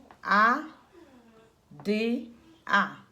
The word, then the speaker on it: ada: A, D, A.